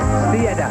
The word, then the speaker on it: Stieda: Now there's a new name for the French to pronounce. They say Stieda.